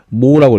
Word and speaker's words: mho: 그래서 이제 읽을 때 어 옴이 OHM이었으니까 얘는 MHO 모라고 읽어요.